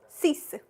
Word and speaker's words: six: It's not six. It's sis.